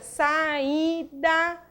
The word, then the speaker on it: saída: A sílaba tônica da palavra é o I. Então, quando você pronuncia saída, né, você abre 3 vezes a boca e o I é a pronúncia, a sílaba prosódica da palavra.